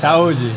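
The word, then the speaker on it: saúde: Brazil CH lcas cheers how do you say in in Brazil cheers Saji Sai Sai Saji perfect okay then we we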